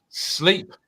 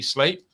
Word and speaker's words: Sleap: i got him right i was told if i called it sleep that my ppr request would be denied so it's definitely slate um great place visited